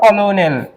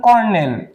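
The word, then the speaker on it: colonel: এরপর কলোনেল, কলোনেল, এটার কিন্তু সঠিক উচ্চারণ কর্নেল, কিন্তু আমরা বললাম আমাদের প্রোনাউন্সিয়েশন আমরা কিভাবে করতেছি সেটা তো জানতে চাবে না পরীক্ষার হলে।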